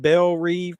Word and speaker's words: Belle Reve: Super villains Harley Quinn, Bloodsport, Peacemaker, and a collection of nutty cons at Belle Reve Prison, is how you pronounce it, join the super secret, super shady